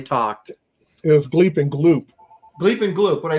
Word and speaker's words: Gloop: it was Gleep and Gloop. Gleep and Gloop. What I say, Glop? Yeah, Gleep and Glop. It was Gleep and Gloop. Yes, you're correct.